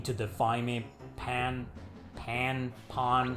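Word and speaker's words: Pahn: Pawn. How is it pronounced? I think it's pawn.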